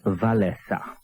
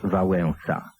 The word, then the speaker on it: Wałęsa: którego fotografia obiegła świat miał nazywać się Lech wesa dopiero po kilku dniach zaczęto wymawiać Wałęsa widocznie nazwisko przeczytano z zachodnich doniesień Natomiast w środkach krajowych